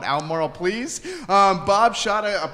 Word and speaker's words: Albemarle: you say this word it's elmoral but it's not phonetically like that jerry i'm like i didn't make the word up just call it elmorel please um bob shot